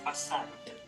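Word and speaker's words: façade: Po-pronounce ko yung D kasi may E sa huli.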